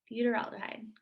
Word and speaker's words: butyraldehyde: propion aldehyde four carbons i can never pronounce butero butyrad see i told you but roll aldehyde butter aldehyde butyraldehyde got it that is how that